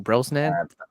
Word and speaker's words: Brosnan: How do you pronounce his last name? Brosnan.